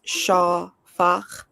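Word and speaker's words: שָׁפַךְ: It's spelled S-A-P-A-K, and it says pronunciation is shafak.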